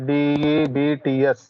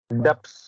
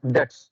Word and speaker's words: debts: చూడండి, దీని ప్రొనౌన్సియేషన్ చూడండి, DEBTS. Generally what you pronounce? డెప్స్ అని ప్రొనౌన్స్ చేస్తారు, బట్ it's correct pronunciation is డెట్స్. B is silent. Don't use B.